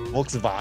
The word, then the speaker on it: Volkswagen: Joel Chin to share with us about Volkswagen. Volkswagen, is that how you pronounce it? Volkswagen. No, it's Volkswagen, it's a V.